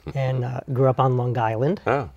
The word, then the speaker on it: Long Island: uh grew up on Long Island oh got to pronounce that g um town called greatneck